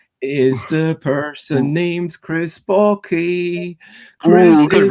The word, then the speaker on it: Backe: So I am Chris Backke. It rhymes with hockey.